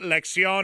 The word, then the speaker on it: lección: All right, just tell him how to pronounce it then, and we'll just move on here. It's la primera lección. La primera lección, and then the number?